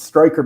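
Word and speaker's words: Strecher: victor striker um so it's it's stryker but it's spelled stretcher he's a public health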